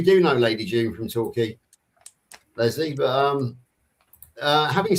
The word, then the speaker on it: Torquay: Torquay, as in key, like the Florida Keys. That's how you pronounce it.